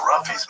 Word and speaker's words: Ruffy: I think he pronounces his name Ruffy. Ruffy sounds cooler. Yeah, it's like rough, yeah.